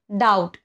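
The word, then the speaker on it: doubt: काय असू शकतं बघा डाऊट डी ओ यु बी टी बी च्या नंतर काय आलेला आहे टी आलेला आहे म्हणून इथे बी सायलेंट आहे या सगळ्या गोष्टीला काही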